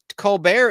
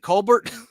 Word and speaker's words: Colbert: family in South Carolina, none of them pronounce the last name the way he does. Is he trying to be French? Yep. Well, what is it? Colbert? Covert. Yeah. The T is not silent.